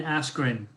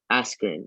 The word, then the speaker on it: Askren: I don't know how to pronounce it. Ben Askren. Askren.